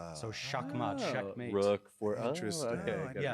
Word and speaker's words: Shakmat: It's the original uh word for it's the Persian word for checkmate. Ah, so shakmat checkmate rook for interest.